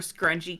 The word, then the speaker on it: scrungy: Scrumpy just makes me think of Scrungy, which is like there's a Reddit for scrungy cat pictures. You say scrunchy, I think about the not scrunchy, scrungy with a G.